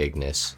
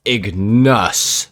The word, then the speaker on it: Ignus: have the pegasi ignos sorry i just had to really pronounce the u because somebody got really mad at me in my comment section earlier for calling it the ignis it's the ignus because ignus is so